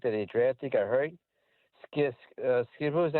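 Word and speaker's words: Skattebo: Skidbo, is that how you say his name? Scatabo? Mm-hmm. Scatabo.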